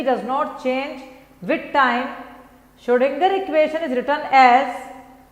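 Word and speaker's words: Schrödinger: ये स्पेलिंग है श्रोडिंगर की, श्रोडिंगर में एन भी आता है जो कि साइलेंट है, वरना कोई नाम से की स्पेलिंग से इतना कोई टेंशन नहीं है, कुछ भी अपन लिख सकते हैं।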